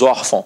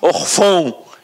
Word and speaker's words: órfão: gráfico, nós não falaríamos órfão, nós falaríamos orfão. E não é assim que a gente fala. Eu falo órfão, você também fala órfão. Então a sílaba tônica está aqui, ó, na penúltima.